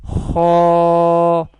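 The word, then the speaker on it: خ: Kha has halki makhraj because it will be pronounced from throat, and it will categorize in halkiya category. This is also called halkiya letters. Halkiya letter, and Kha will be pronounced from the top part of the throat.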